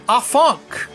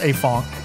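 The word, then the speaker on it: Afanc: I think it's pronounced Afonk.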